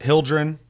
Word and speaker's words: Hyldrin: know in the comments what you think about hildren that's how you say her name sure hildren what do you think about tanks what do